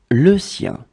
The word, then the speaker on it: le sien: His, hers, le sien.